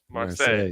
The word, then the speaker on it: Marseille: How do you pronounce it? Marseille, yes.